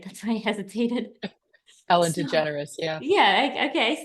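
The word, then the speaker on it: DeGeneres: last name right that's why I hesitated Ellen degenerous yeah yeah okay I said it right I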